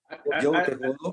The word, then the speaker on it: Joe T. Hodo: su trabajo con el personaje que él maneja, Joe Te Jodo, si no me equivoco en la pronunciación. ¿Es así, mi querido Gregory? Joe Te Jodo.